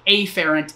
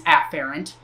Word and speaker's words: afferent: efferent with an E I tend to over pronounce the the first letter of that so afferent and efferent that's not how it's actually pronounced but that I feel